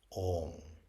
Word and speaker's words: Om: Because Om has 3 parts, or rather it has 4 parts, but the first 3 parts that you can hear is the A, U, and M.